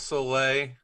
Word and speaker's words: Soule: Well, Ryan Browne, Charles Soule, both you guys, thank you so much. Wow. The Silent E twins.